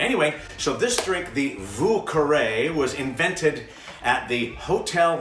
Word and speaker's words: Vieux Carré: This drink is called a Vieux Carré, spelled like this. Vieux Carré. Yes, French again.